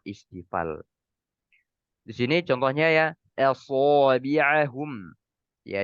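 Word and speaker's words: أصابعهم: Di sini contohnya ya asabi'ahum. Ya, jangan sampai kita fokus ke huruf shad dia punya sifat isti'la dan itbaq, kita membacanya aso. Ya, ini banyak terjadi. Asabi'ahum. Ini salah. Harusnya so. So.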